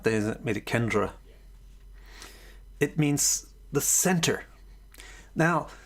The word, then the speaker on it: kendra: kantra means the center so kendra is just the way that the indians pronounced it instead of kantra there isn't a kendra it means the center